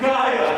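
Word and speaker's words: gyre: Make the G hard in Gaia and Gimble.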